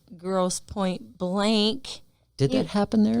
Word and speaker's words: Grosse Pointe: Okay, we're going to Grosse Pointe, Michigan, which is way down here. It's spelled gross with an E at the end and point with an E end. So it's grossy, pointy.